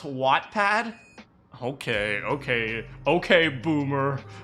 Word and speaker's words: Wattpad: pad what's wrong with what a pad it's pronounced wattpad okay okay okay boomer